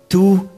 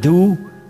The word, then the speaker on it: du: Trong tiếng Anh là you, thì tiếng Đức chúng ta đọc là tu hay là du, tùy theo vùng miền khác nhau.